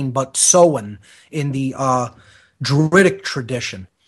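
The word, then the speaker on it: Samhain: s a m ha a i n not pronounced Sam Hae but seen in the uh druidic tradition this is of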